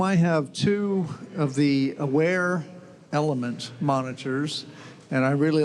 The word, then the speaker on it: Awair: At home, I have two of the Aware Element monitors, and I really like those a lot. It's spelled AWAIR is the name of the course company.